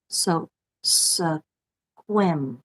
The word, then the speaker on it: Sequim: name lavender grown in Sequim Washington it's pronounced like swim so quim Washington lavender I would love